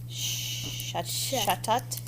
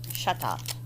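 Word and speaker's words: Chatot: Shatot. The H is silent. Shatot. Chat. Shatot.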